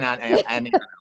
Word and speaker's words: Aniano: Would you No, it's pronounce it? perfect. Oh, it is Aniano.